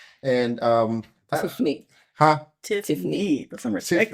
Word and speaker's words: Tiffney: So look, we're here to talk about marriage and ministry, and of course we have Joel and Tiffany, and Tiffney.